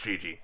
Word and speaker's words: Gigi: of an exotic name just like a multi- syllable name and not like gigg good it's Gigi hey hey no I don't know I don't